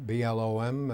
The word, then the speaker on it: Blom: Okay, my name is Blom, B-L-O-M. It's been pronounced every way you can think of, but it's Blom.